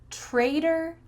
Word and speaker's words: traitor: Trader, trader. One word has a T. Why does it sound like a D? In American English, when there's a T between 2 vowels, we often change that T into a D sound.